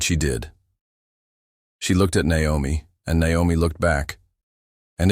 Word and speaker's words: Naomi: But this time, after the 3rd butchered syllable and the absent apology, she cleared her throat louder and said, "It's actually pronounced Naomi."